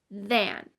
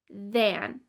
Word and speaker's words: than: An example of a voiced TH is in the word than, than, than.